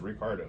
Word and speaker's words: Ricciardo: to look this up it looks like it's spelled ricciardo or richardo but i guess he himself pronounces it incorrectly as ricardo so daniel ricardo alfa